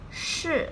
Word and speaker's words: 是: Please note the difference 四 and 是 here. 四 sounds like the sun or sorry in English, however, 是 has no equivalent, rather like show, but with the tongue curled upwards, very similar to march in American English.